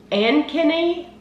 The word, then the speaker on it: Ankeny: It's Ankeny, Iowa. It's Ankeny. That's what it looks like.